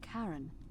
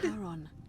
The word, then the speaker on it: Charon: It's just as you described it, only your pronunciation is a little off. The name you heard wasn't Karen. It was C-H-A-R-O-N, as in... So we're dead? Charon, the ferryman of the dead.